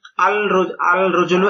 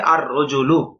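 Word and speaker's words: الرَّجُلُ: রজুলন আলিফ লাম য আল রজুলু এটা ভুল কিভাবে আর রজুলু লাম উচ্চারণ হবে না এই বিষয়টা বুঝানো হয়েছে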